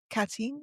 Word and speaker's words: Katyn: The massacre at the in the forest at Katyn, which I'm probably pronouncing wrong.